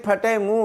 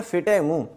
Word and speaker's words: फटे मुंह: गया अगला लज देखें फटे मुंह वाला यहां पर जो लफ्ज बोला जाता है ना फिट मुंह ये दरअसल दस्त लफ्ज है फटे मुंह यानी जो मुंह फट हो फटे मुंह वाला और अगला लफ्ज है